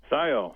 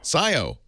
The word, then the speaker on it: Scio: have changed Perry in uh how do you pronounce that SK Oregon Scio Scio s c oh hi Perry howdy welcome um